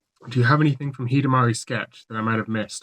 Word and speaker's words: Hidamari Sketch: And I said "No, it's Hidamari Sketch. Hidamari as in sunshine."